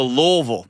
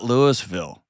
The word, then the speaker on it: Louisville: Let's go to Louisville, not Lewisville. Like it's exactly like it's spelled.